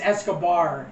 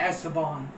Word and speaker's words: Escobar: but I said esar it's Escobar not eston I keep saying eson